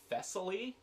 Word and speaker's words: Thessaly: And then Thessaly.